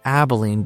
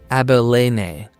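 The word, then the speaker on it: Abilene: And I'd just been pronouncing it Abolene, but it's Abelene.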